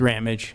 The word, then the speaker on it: Ramage: Is it Ramage or Please tell me. We use Ramage.